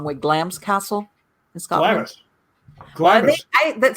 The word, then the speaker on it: Glamis: it the wrong way glam's castle in scotland i that somebody told me no it's not glamorous it's glams and i'm like yeah g-l-a-m-m-i-s